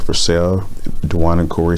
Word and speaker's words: Dwane: Dwane Simmons, that looks like Dwayne, but it's Dwane. But that's how they pronounce it.